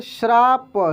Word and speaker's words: श्राप: brand ठीक है shirt यहां पे श्राप क्या पढ़ेंगे श्राप श्राप ठीक है चलिए उसके बाद